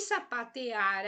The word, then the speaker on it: sapatear: E sapatear aqui, eu até coloquei em negrito, sapatear, o ar é a sílaba mais forte desta palavra.